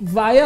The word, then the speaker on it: Varya: melhor forma de pronúncia na língua inglesa ela vai ser chamada de vaia e na língua portuguesa podemos chamar ela de várias então vai ficar mais